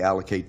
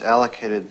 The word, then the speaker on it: allocate: For pronunciation, the verb has three syllables. The stress is on the first syllable and that second syllable has that unstressed schwa sound.